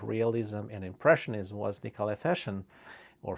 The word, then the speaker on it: Fechin: And one of uh those artists who been on verge of realism and impressionism was Nicolai Fechin or Fechin as they pronounce it here because it's a French transliteration.